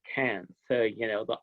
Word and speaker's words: Cairns: It looks like it's spelled Cairns, but it's Cairns.